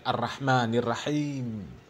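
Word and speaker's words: الرحمن الرحيم: Karena membaca huruf ro ya fathah dibacanya ra. Ya Ar-Rahmanir Rahim.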